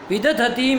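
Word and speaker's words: विदधतीम्: विद्युत देख के बोलो ना, काहे गलत उच्चारण कर रहे हो? विदतिम। विदधतीम है ना, विदधतीम।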